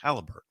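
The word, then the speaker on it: Haliburton: Yes, Halliburton.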